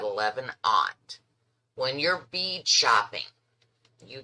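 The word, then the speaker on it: aught: when i said 11 aunt when you're bead shopping you get beads and they come 11 slash 0 it is called 11 aunt okay and it's spelled a-u-g-h-t 15 aunt eight odd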